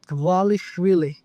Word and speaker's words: Dvalishvili: My last name is Walish Willie. Wales Willie.